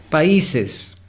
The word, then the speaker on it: países: Son 3 sílabas, no es países. Si se dan cuenta, la A y la I se están separando. Países. Es decir, hay un hiato en pa y.